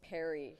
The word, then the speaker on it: Perry: And I've been informed that the correct pronunciation is Perry here for coming up.